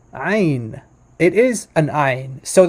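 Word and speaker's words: עין: like a wikipedia um here's the letter i in modern hebrew would just pronounce like ein ein it's not it's there's not it's no guttural it's not guttural at all um so in in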